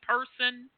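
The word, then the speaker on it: Purson: So person, P-U-R-S-O-N. Isn't that close to the pronunciation? Person.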